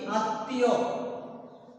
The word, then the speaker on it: আত্মীয়: উদাহরণস্বরূপ আমরা বলতে পারি আত্মীয়।